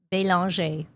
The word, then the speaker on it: Belanger: So, yeah, it's almost spelled that way, but it's actually pronounced Belanger, which actually means beautiful angel in French.